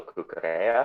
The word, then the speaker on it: Cucurella: But we're going to have another presentation first, which is Paula Cucurella. Am I pronouncing that right?